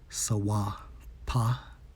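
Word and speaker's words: סופה: According to the Hebrew for storm, Strong's H5492, pronounced as Sawapa, which means what?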